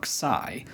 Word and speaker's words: xi: In English, we spell it xi, and we call it xi or xi, though the ancient and modern Greeks call it xi.